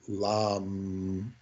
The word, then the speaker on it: lama: So it'd be lam-ma. The word lama is lam. It's silent H.